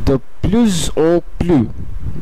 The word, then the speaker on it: de plus en plus: এইখানেও এ একটি ভাওয়েল এবং সেই ক্ষেত্রে শেষের প্লুজের এসটি শেষের কনসোনেন্টটি এটির সঙ্গে সংযুক্ত হয়ে প্লুজ ও হয়ে যাচ্ছে।